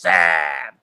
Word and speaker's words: Saab: did that though see look how many A's there are in Sab it's literally made to be pronounced Sab look at it say sam now I can't speak